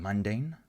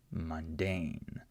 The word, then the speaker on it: mundane: In this word, we have the same sound, but it's unstressed, right? So mundane. Okay, I'm not saying mundane, I'm saying mundane. So I still have this short U sound, but it's not stressed in the word.